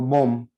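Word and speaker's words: bom: ओ यहाँ पे अनुस्वार के साथ है, तो इसका मतलब हम उच्चारण कैसे करेंगे, नाक पे वो खत्म होगा, बोम, है ना।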